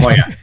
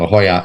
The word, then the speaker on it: La Jolla: La Jolla. Jolla. Yes, LL together is a Y sound. La Jolla, and of course J in Spanish is a H sound.